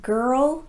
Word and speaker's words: girl: Both girl and world are technically one-syllable words, but here's the thing I want you to know. Native speakers actually say these words as if they have two syllables. They just do it really fast.